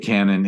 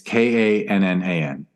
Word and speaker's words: Kannan: I didn't make it clear that Kannan is not spelled like the old-fashioned wall buster from the Middle Ages war. It's not a pirate ship Kannan. It's Kannan. Kannan.